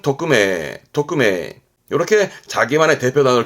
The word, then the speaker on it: 匿名: 발음은 토크메, 토크메.